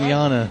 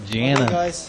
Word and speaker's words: Jana: It's not even Yana. I got info that it's pronounced Jana. It's spelt the same as the other Yana, though.